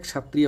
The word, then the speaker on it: क्षत्रिय: इसको छा नहीं बोलते हैं, इसको बोलते हैं छा। आधा का पहले आ जाना चाहिए, और अगर सही प्रोनाउंसिएशन इसका करना हो तब इसको कहते हैंक्षा, क्षत्रिय, क्षत्रिय। ठीक, इस तरह से बोला जाता है।